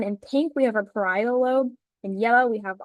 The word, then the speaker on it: parietal: The first one is frontal lobe, and then the back is occipital lobe, and then we have parietal. I'm not. I don't think I'm saying it right. Parietal, yes, but very close.